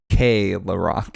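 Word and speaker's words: Keelerak: But instead it's actually supposedly pronounced K-La-Rock.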